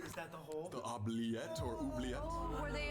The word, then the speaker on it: oubliette: oubliette.